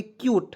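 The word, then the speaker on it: cute: चलिए उसके बाद देखिए सी यूटी ई तो कुट नहीं पढ़ेंगे दोस्तों इसे पढ़ेंगे क्यूट देखिए सी का उच्चारण आधा क के रूप में कीजिएगा यूटी टीई आएगा किसी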